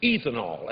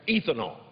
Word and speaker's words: ethanol: You can tell about the ignorance of ethanol in this town because a lot of people pronounce it ethanol, and that's E-E-E-T-H-A-N-O-L, ethanol.